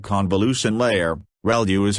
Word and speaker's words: ReLU: ReLU is how that is pronounced when that's the rectified linear unit that has to do with the activation function that's used.